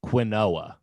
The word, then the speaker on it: quinoa: a fact you've looked at this and thought quinoa.